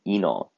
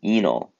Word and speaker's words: enol: This intermediate is called an enol. It's spelled ENOL, right? We pronounce ene for the double bonds, right? Like alkenes.